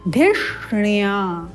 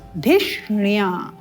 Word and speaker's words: धिष्ण्या: तदश्विना श्रीणुतन धिष्णिया, धिष्णिया। यहाँ ध्यान देंगे, ये जो श है मूर्धन्य श, ये धी के साथ, और ये जो ण है ये या के साथ। धिष्ण्या, धिष्ण्या।